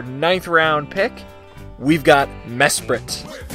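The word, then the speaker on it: Mesprit: round pick we've got mess prett Noah does not mess spirit because I learned that misspelling during the draft don't spell it like mess spirit kids anyway mess sprit is a pretty interesting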